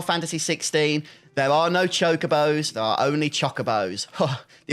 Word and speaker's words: chocobo: The amount of hate I've gotten over the years every time I say chocobo, I feel like I'm kind of vindicated now because that's the only way that word is pronounced in this game.